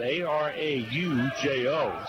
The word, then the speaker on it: Araujo: It's spelled A-R-A-U-J-O.